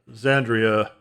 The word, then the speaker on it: Xandria: Gonna be checking out the new Xandria album. That's how you pronounce it.